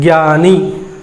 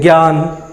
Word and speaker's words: ज्ञान: लेकिन संस्कृत में जब हम लिखेंगे तो जब हम इस तरह से हमको पता रहेगा कि वर्ण का उच्चारण स्थान है वो ज और य मिलकर के बना हुआ है, तो हम क्या बोलेंगे, ज्ञान, ज्ञानी, ऐसे बोलेंगे।